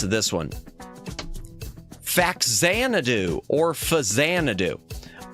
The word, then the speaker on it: Faxanadu: And they shortened it there as Fazanadu. Well, when they brought it to the US, they brought it as Fazanadu still, but no one knew how to pronounce it, so everyone called it Faxanadu.